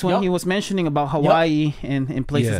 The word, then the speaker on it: Hawaii: And it's not Hawaii, everybody. It's Hawaii. It's Hawaii. Or Hawaii. That's the actual way to pronounce Hawaii.